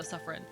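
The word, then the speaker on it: Siffrin: I think word of God is that ciffron doesn't intentionally mean anything in other languages except that it's pronounced uh suffin. Got it. I I've been saying cifin the whole time and no one's corrected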